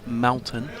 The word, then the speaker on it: Melton: coach at Melton Balls Club, which I'll pronounce Melton cuz they reckoned I said Melbourne last time. You're right. That was just my accent.